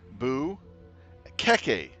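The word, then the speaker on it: Boo-Keke: It's pronounced, I separated it, Boo Keke, and put a dash in between. This is how you pronounce it.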